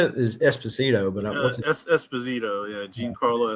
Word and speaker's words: Esposito: How you say it is Esposito, but what's it?